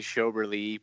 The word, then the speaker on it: Schoberle: You pronounce my name Schoberle, and I really like that. It's actually Schoberle, but I kind of like that. I kind of like that accent on the end.